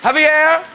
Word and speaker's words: Javier: Now, Javier. Pronounced correctly?